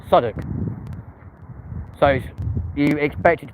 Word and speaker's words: Southwark: Yeah, Greenwich, spelt Greenwich, but it's pronounced Greenwich. Southwark, yeah, not Southwark, Southwark.